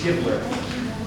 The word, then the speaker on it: Gibler: It's Gibbler. You got your takers and you got your gibblers. Well, let me sign the check. It's okay if I take my mask off? Yes, sir. I'm Gibbler.